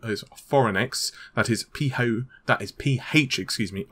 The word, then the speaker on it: Phoronix: So a website to buy, and I'm probably going to butcher the name, is Foronix.